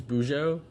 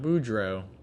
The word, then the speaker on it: Boujou: i pronounced no that i pronounced his name correctly boujou boujou that's fine i got it we got it not boudreaux but boujou not bejold not that either okay let's not even